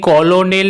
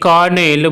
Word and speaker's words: colonel: অথবা COLONEL এটিকে কলোনেল না বলে কেন এটিকে কর্নেল বলা হয়?